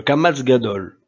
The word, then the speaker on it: Kamatz Gadol: Le Kamatz Gadol. Il s'agit d'un Kamatz Gadol prononcé A, si, premier cas, le Sheva qui le suit se prononce, exemple, Yareda, Ayeta.